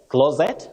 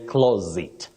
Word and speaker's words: closet: Many people say that. Yes. Closet, but we say closet. Closet. What? That is the correct or accurate pronunciation of this word.